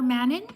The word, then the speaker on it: Manon: Shout out to, oh, for Manon, so it's Mano. The N is silent.